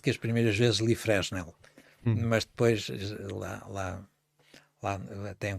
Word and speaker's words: Fresnel: um nome que era, se tu souberes pronunciar em francês, o teu francês deve ser melhor que o meu. Pois eram as lentes de Fresnel. Eram lentes que... Ou Fresnel. Pois, Fresnel. Se ler assim portuguesadamente.